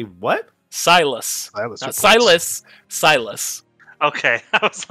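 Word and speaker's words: Sylus: Silas. Okay, I was like, what? Spell that.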